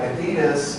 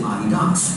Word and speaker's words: Adidas: After a person, which is why people pronounce it Adidas. It's named after Adi Dassler, a German guy who got in a fight with his brother.